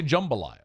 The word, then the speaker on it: jambalaya: So I would say jambalaya. That's correct, by the way. But it is JAM, so phonetically it would be jambalaya.